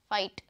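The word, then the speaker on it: fight: फाइट में भी जी एच का नहीं आ रहा, बस एफ आई एट, फाइट।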